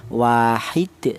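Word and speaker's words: وَاحِدْ: Maka cara bacanya berhubung dia mati atau sukun ya, maka cara baca itu dipantulkan wahid. Seperti itu dibaca qalqalah ya.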